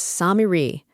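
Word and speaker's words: سامري: The Arabic word is Samiri, long a then i then long e.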